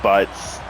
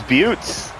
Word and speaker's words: Butts: Oh, they do pronounce that butts. I thought it was Butes.